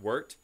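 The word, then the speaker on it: wort: so it's worked w-o-r-t it's not pronounced wart but worked um that's what we're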